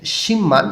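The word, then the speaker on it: 십만: ও সিম্মান ওয়ান ইয়েও দেখেন সিম্মান এখানে বিউ এর উপরের পরে মিউম আছে বটা ম উচ্চারণ করতে হবে ভাত সিমের নিয়ম সিম্মান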